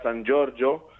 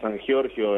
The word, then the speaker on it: Sangiorgio: Sí, el apellido la pronunciación es en italiano, la original Cierto. sería San Giorgio, Muy pero bien. bueno, aquí en Argentina es común que digan San Giorgio en la mayoría de los lugares, que traducido es el